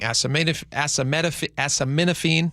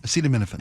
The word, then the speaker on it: acetaminophen: They said we are aware of the White House's statements regarding asame as acaminophene. Acetaminophen acetaminophen. Sorry, I can't pronounce that.